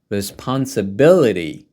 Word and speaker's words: responsibility: first word here is responsibility ability takes the primary stress you should say louder responsibility responsibility responsibility it means something that